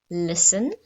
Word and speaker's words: listen: have castle the princess lives in a castle listen i have to listen carefully which this is